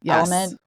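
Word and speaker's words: LMNT: it's actually very popular in podcasts I've heard it's spelled l MNT element mhm and I would do little packets of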